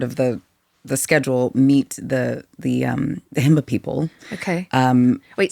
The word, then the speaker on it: Himba: And we were able to randomly, not a part of the schedule, meet the Himba people. Okay. Wait, say that again. Himba. Himba. Okay, I'm pronouncing that.